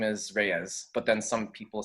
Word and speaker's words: Reyes: And then my last name is Reyes, but then some people say like Reyes. Reyes, with the roll, with the tongue roll.